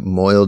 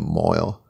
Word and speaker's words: Moyle: same word there's just mall is like a Scottish modern Scottish pronunciation of Moyle so yeah so basically